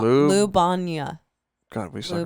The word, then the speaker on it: Ljubljana: Ljubljana. Ljubljana. God, we suck right now. I got it right here. Capital of Slovenia. Yeah. That's where it was because you had played that festival. Ljubljana.